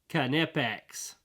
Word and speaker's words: Knipex: that solves this question check that out it's pronounced canipex so there you go once and for all